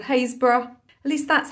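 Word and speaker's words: Happisburgh: and a half's drive in a place called hayesboro at least that's how it's pronounced it's actually spelled happysburg which of course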